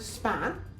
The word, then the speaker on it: span: you can get um span span. If you if you say the word span you should notice that uh the P sounds a bit more like sounds very much like a B.